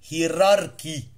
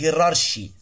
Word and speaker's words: hierarchy: في غاية الأهمية، موتور هيراركي. بص بقى كلمة دي جديدة النهاردة، وفي ناس بينطقوها غلط يقولك هيرارشي، لا سي اتش كأنها كي، موتور هيراركي.